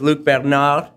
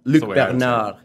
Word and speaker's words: Luc Bernard: We're here with Luc Bernard. Is that the right pronunciation? Because English would say Luc Bernard, but Luc Bernard. Luc Bernard, yeah.